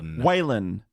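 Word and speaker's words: Waylon: is first name wh whan no D on the end right no D so why was everyone pronouncing it with a D in this episode really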